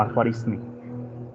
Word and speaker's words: al-Khwarizmi: Esto se pronuncia algo así como al-Khwarizmi, aunque no sea árabe, ¿no?